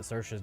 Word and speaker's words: Sersha: Actually, I've had it confirmed to me that Sersha's name is pronounced Sersha by Caladrius.